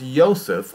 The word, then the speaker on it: Yosef: Was sent by Jehovah into a city of Galilee named Nazareth to a virgin espoused to a man whose name was Yosef of the house of David, is probably how it should be pronounced.